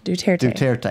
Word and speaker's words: Duterte: It is spelled phonetically. You shouldn't have a problem with it. I want to roll the UE. Hooked on phonics didn't work for him. There's no UE.